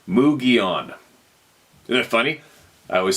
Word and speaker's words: Mogollon: I spent a lot of time in the mountains of Arizona and the Mogollon, pronounced Mugion.